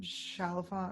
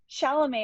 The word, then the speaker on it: Chalamet: He had Tim Chalfant or whatever that kid's name is. Chalfant? How do you say his name? Chalamet.